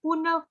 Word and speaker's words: पुनः: माता जी, पुनः पुनः ह का उच्चारण आएगा ना विसर्ग का, आप पुनः लिख रहे हो, पुनः।